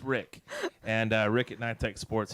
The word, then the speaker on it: Rick: That's with an R. Rhymes with Nick, but it's Rick.